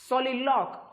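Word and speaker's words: soliloquy: शब्द आहे तो आहे सॉलीलॉक किंवा त्याला काही लोक सॉलीलॉकी असं पण म्हणतात सो सॉलीलॉक अशा प्रकारे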